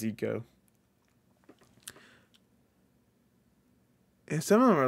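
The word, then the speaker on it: Ico: oh this is a the girl right from ieko or Eco sorry it's actually pronounced EO some of them are a little hard to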